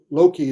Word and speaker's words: Loki: the O and O Loki is it's a long o so it's Dr hokei